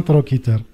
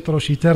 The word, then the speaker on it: trochiter: de l'épaule, eh ben, il a prononcé trochiter, trochin. Ce que je vois, il est plus correct. Parce que ça répond aux règles de la langue française.